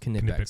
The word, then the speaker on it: Knipex: And just to let everybody at home know, it's spelled Knipex if you're trying to look it up, and it's pronounced Knipex.